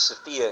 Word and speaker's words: Sophia: Pronounced Sophia in Greek, and there are different pronunciations in other languages for the same goddess.